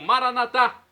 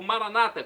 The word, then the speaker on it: Maranatá: E agora do aramaico eu clamo Maranatá, como dizemos nós católicos, ou Maranata, como dizem nossos irmãos separados, os evangélicos ou protestantes, não importa a pronúncia, o significado é o mesmo.